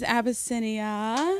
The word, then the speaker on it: Abisinia: everyone my name is abisinia thank you I know it's a lot abasia five syllables um so I'm sorry